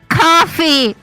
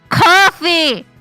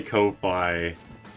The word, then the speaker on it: Ko-fi: Hi, it's coffee. You is pronounced coffee. That's it. I'm going to say Kofi.